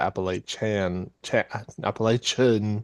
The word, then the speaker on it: Appalachian: It's not the Appalachian Mountains.